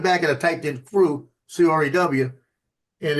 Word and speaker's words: Krewe: I spelled it like they do there, Krewe, crew. That's how you do it in Louisiana for the parades.